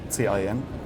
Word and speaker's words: Caen: C-A-E-N. I don't know if I pronounced that correctly. Caen. 's so it's not can it's not I know Fah to K that's